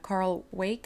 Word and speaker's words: Weick: It's defined by Carl Wake. I never can pronounce his name. It's spelled Weick.